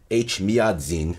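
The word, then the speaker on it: Էջմիածին: bedros right there uh the seat of the armenian apostolate church age miyazin in eastern armenian is h miyazin in western armenian which is why it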